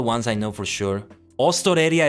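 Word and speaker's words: オーストラリア: Ostoreria is how you say Australia, but would it be Ostoreria Jin?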